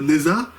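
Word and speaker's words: Nezha: chinois, on retrouve aussi Neza, Neza, c'est comme ça qu'on le dit en français, mais avec la prononciation chinoise, je pense qu'on devrait plutôt dire Nocha. Je crois que ça se dit comme ça en chinois.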